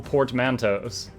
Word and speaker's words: portmanteau: I guess I'm making unofficial portmanteaus. Oh, it's pronounced portmanteaus?